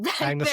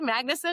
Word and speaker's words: Magnusson: Magnus and once and for all confirm the pronunciation of his last name. Y Magnus is correct. Yeah. Creator of It is correct. Magnus.